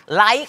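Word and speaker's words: ไลค์: คำ ว่า ไร้ สาระ ไลค กับ ไรฟ นะ ฮะ ใน ที่ นี้ ออก เสียง ไม่ เหมือน กัน นะ ฮะ มี ความ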